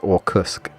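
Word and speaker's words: Orkutsk: and I keep again you don't really pronounce the T Rav I think it just or Cusk so yeah once inside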